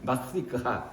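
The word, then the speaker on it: Mardi Gras: 어쨌든 정확한 발음은 마르디그라 이렇게 읽는데, 그건 뭐냐면 뚱뚱한 화요일, 살찐 화요일 이런 뜻입니다.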